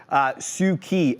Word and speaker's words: SU7: Here comes the Xiaomi Suki, SU7, pronounced Suki in Mandarin.